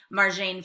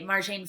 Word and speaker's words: Marjane: So instead of saying something like Marjane flees, or yeah, you would want to say Marjane flees Iran instead of Marjan, say her name right too, say names right, instead of Marjan fled Iran, right?